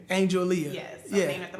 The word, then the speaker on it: Angeleah: It's like Angela or Angeleah, or it's really just Angeleah. Angeleah.